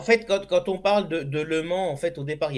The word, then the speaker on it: Le Mans: Normalement, The Mans. hein? The Mans. Non, non, non, non, non, parce que le Mans, non, non, Le Mans, même les Anglais et